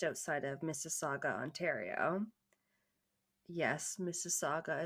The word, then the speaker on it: Mississauga: of Mississauga Ontario yes Mississauga is a lot like Mississippi for you American listeners m-i-s-s-i-s-i-s-s-a-u-g-a is how it's